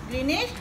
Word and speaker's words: Greenwich: Tapi ejaan dia G-R-E-E-N-W-I-C-H. Ya, tapi kita sebut Greenwich itu adalah penentu, sifar darjah.